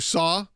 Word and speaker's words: Cao: Which, by the way, that's how we say Pastor Saw, but it is spelled CAO. So I want to make sure people understand that when they're going, why am I going to CAO? You may not have ever seen it in text. That's how it is spelled.